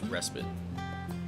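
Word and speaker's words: respite: private respit for spite I never know how to pronounce that I'm pretty sure it's respit if you're looking to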